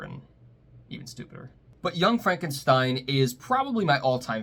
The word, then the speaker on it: Frankenstein: today our movie in the middle is Young Frankenstein don't miss Young Frankenstein personally directed by Mel